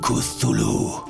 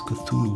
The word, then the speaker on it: Cthulhu: is already i am kusulu well actually it's not how you pronounce cthulhu but i'm not trying